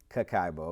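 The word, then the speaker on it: kakeibo: the Japanese practice of Kokubo pronounced cacao which translates as household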